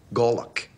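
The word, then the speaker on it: golok: In the military, it's called a Glock. G-O-L-O-K. Pronounced Glock.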